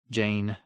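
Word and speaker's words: Jeyne: to hold her still Jane Jane it rhymes with pain he tightened his grip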